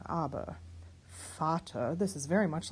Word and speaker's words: Vater: Vater, this is very much like the same thing. These are pronounced as F's, yes.